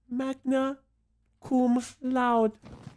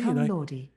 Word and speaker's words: magna cum laude: Magna Cum Laude. Yes. I graduated my college, my four-year university. Is that how you actually spell it?